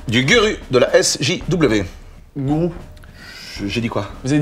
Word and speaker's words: gourou: Si, vous avez dit guru alors que c'est gourou. Non, je crois pas que j'ai dit... Puis de toute façon, à l'américaine, ça s'écrit G-U-R-U. Oui, mais ça se prononce gourou.